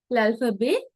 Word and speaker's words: alphabet: l'alphabet français. l'alphabet français. මේකයි එකතු කරලා කියන්නේ l'alphabet. We don't pronounce the T.